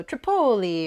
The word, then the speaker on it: Tripoli: was you know the the second syllable is what you emphasize so Tripoli or Napoli or you know whatever